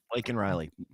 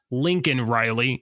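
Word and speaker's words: Laken Riley: now L Lake uh Lake and Riley Lincoln Riley though uh Joe Biden referred to her as Lincoln Riley last night on the L yeah he said her name wrong he said her name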